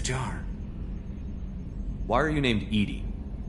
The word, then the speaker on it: EDI: airlock is a jar why are you named Edy Edy is the phonetic pronunciation of e di that is an acronym